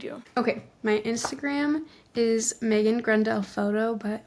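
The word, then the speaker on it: Maegan: My Instagram is Megan Grenell Photo, but my name is spelled kind of weird, so it's M A E G A N.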